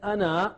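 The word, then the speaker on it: أنا: me whom you know is written as Ana but you never pronounce that alif you just say as if there is no alif there Al and with why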